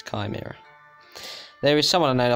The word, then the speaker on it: chimera: it like tomorrow instead of chimera some people pronounce it chime era they you know that's just not that's not right whatsoever it's chimera there is someone out I think they called